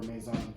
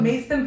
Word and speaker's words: Maison: I was doing a lot of interviews for Maison. Yeah. And now I know I say it wrong. So it's in New York, but Mason Pickles. It's Maison.